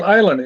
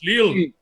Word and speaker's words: Lille: Lille. How do you pronounce that in France? How do you say? Ill. If it's it's like island, right? No, it's Lille. Tom, it's Lille.